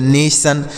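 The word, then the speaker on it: nation: एन ये हो गया नेशन मतलब टी आई ओ एन को सन पढ़ेंगे नेशन हो गया उसी तरीके से हो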